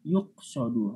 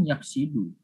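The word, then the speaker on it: يُقْصَدُ: Jadi yuqsodu. Harusnya kan yaksidu ya. Yaksidu. Qasoda yaksidu. Tapi dibacanya yuqsodu.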